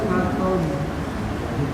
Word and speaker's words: حطب: Wamro'atuhu hammalatal hatab. Hatab. Langsung dilepasin. Hatab. Karena dia tonya tebal, hati-hati, jadi keikat gitu bacanya. Hatab, nggak dilepasin.